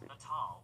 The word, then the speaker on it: Natal: Oh wait, it's pronounced Natal.